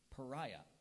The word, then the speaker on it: pariah: m authoritarianism correct I'm ready for my word Pariah the political candidate became a pariah to his party and many members refused to be seen with him pariah definition please it's a person who is an